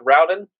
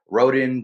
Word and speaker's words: Rowden: right yeah all right you're actually the first person to pronounce it right most time they call me rhoden and all that so thank you all